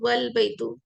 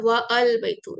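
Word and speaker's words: وَالْبَيْتُ: तो example, al baytu is pronounced al baytu and wal baytu, and the house is pronounced as wal baytu and not wa al baytu।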